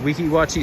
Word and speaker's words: Weeki Wachee: you should really go to a place called Weeki Wachee Springs. It's like Weekiwatchi or something like that.